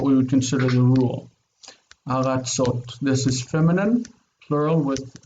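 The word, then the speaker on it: ארצות: The stress is on the end of the word, like Ward has just pointed out. Eretz, aratzot. We don't normally mark word final stress, so we don't really need it, but it's aratzot.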